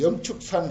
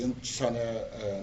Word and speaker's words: 영축산: 자연 용출하사 주 허공 중 하야 허공 가운데 머물러서 예 영축산 할세 영취산에 나아갔을세. 이 영취 하면은 취라고도 발음하고 축이라도 발음하고 그런데 취라고 하면 나는 별 맛이 적어서 영축이라고 합니다. 힘이 있잖아요. 강하잖아 발음이.